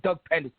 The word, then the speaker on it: Pederson: But first of all, you got to say his name right. It's Doug Pederson.